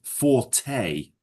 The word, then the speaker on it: forte: But it's pronounced forte. Forte. Yeah. It's a French word.